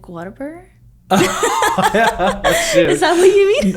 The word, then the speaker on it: Whataburger: in and out versus how do you say it Whataburger Whataburger there's no R in there no yes um yeah